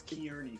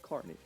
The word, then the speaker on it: Kearney: that Nate doesn't know how to pronounce Carney, because he never will know how to pronounce Carmen. It's always Kearney for him. No, it's Kearny is Carney.